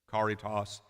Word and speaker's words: caritas: the form of charity Caritas the CH in our Old English would have been pronounced like a car sound Caritas karate and eventually